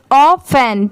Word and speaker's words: often: लिखते टाइम पूरा लिखेंगे OFTEN और पढ़ते टाइम क्या पढ़ेंगे? ऑफन। ठीक है, इसे ऑफ और टेन मत पढ़ना, ऑफन।